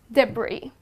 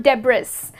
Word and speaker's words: debris: pronunciation of this word would be debris okay and it's not Deborah's that's how people pronounce it but that's incorrect okay let's move on